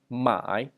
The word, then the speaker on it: 买: So, like to buy in Chinese is 买, it's third tone, 是第三声 third tone.